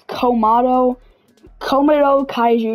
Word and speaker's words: Komodo Kaiju: By the way, I pronounced the name wrong. It's Komodo Kaiju 92.